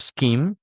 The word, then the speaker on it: scheme: And the point of this is to understand SCH is pronounced as sk. We have the word schedule. We have the word scheme.